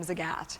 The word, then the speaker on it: Zagat: The people, they pronounce their last name Zagat. Zagat, okay.